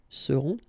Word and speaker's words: seront: Ils seront, final T not pronounced, and then you've got this nasal, on, seront.